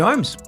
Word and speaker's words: Holmes: I said embrace the L in your name. I just gave you a little bit of an education session on how to pronounce my name. If you ask Liam Pickering, he is one that just says it's Holmes, it's Holmes, it's Holmes. I'm like, mate, I know how to pronounce my own last name. There's an L there for a reason.